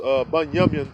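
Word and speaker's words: בנימין: It's pronounced Bunyamin in our language, which means son of the righteous.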